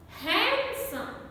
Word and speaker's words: handsome: obscene accent accent when letter d is silent in the following words in these words handsome such a common word he is a handsome boy handsome not handsome handsome handkerchief not hand girl